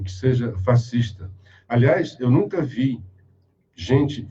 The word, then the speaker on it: fascista: Porque se eu sou fascista, mas a pronúncia é essa, tá? Fascista. A minha filha diz: pai, não fala fascista, que vão falar da tua idade. Não é conhecimento, é porque vem do italiano.